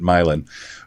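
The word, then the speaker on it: Milan: in in Italy and he was surprised that we pronounced it milin but it's it's close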